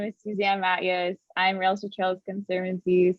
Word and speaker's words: Matyas: a little bit absolutely and kudos on the pronunciation because i know my last name is a tough one hi everyone my name is suzanne matias i'm real estate trails